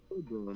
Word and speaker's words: Tolkien: pronounce the L, you do. Okay. Tolkien.